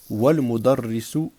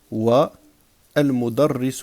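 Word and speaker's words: والمدرس: Donc, ici, nous avons hamzatul wasl, que l'on ne prononce pas lorsqu'on fait la liaison. Wal mudarrisu waqifun. Sinon, je vais dire al waladu jalisun wa al mudarrisu waqifun.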